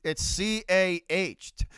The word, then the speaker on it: car: It's CAH. Go tell Cardinal it's CAAH. Ka. You got to say it right. You got to say it right. No R's up in here. We don't use the letter R. We don't use the letter R here.